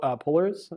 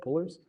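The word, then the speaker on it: Polars: been talking about is pullers is that how you say it pullers um yeah like polar bears um with an RS at the end um but that's like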